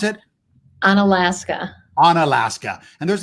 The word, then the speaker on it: Unalaska: business, not too far away, how do you pronounce it? Unalaska.